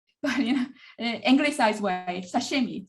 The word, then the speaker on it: sashimi: When I talk about sushi, for example, but then another word like sashimi, I pronounce sashimi in a very much anglicized way.